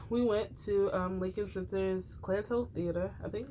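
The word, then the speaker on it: Claire Tow: About 2 weeks ago, we went to Lincoln Center's Clear Toe Theater. I think, right? So it's called Clear toe. That's what I said. Toe. Clear Toe Theater. Rhymes with low.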